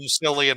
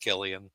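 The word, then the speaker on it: Cillian: I always called him slian until I heard him on a show yeah and he's like yeah it's pronounced Killian like okay think about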